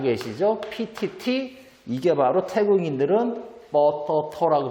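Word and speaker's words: ปตท: PTT 이게 바로 태국인들은 뻐터터라고 발음하겠죠. 태국인들은 이렇게 발음합니다. 길게 하죠.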